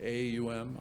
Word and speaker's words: Om: om is om but it's pronounced like in three syllables like AUM om it represents the